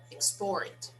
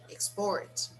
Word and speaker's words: export: So when I say these words as nouns, the stress is on the first syllable. When I say them as verbs, the stress is on the second syllable.